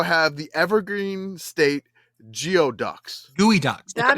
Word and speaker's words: geoduck: Gooey ducks. That It's is pronounced Gooey pronounced ducks.